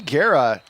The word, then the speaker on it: Guerra: Guerra basically told us in our Discord earlier, this is how you say my name. He wanted us to get it right. Guerra, like guarantee, like guaranteed, but T.